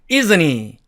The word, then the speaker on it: isn't he: 그러면은 이 H의 발음은 은이 먹어버리기 때문에 또 사라지게 됩니다. 그러면 남은 게 isn't과 e가 남았으니까 이렇게 isn't he 이렇게 발음이 됩니다. 예를 들어 He's very tall, isn't he?